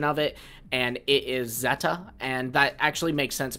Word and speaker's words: Z-A: it and it is Zeta and that actually makes sense because that is the the Greek Alphabet letter you know Zeta so this makes a